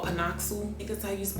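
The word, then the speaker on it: PanOxyl: for me personally i use this brand called pinocchio because i used to spell it like p-a-n-o-x-y-l i use pinocchio i also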